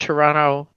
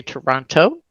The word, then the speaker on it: Toronto: fact that you pronounced Toronto the right way you did not say Toronto you said toron just like everybody else does so I know you